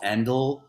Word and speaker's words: Endel: It's Endel. Endel, like like end and then EL.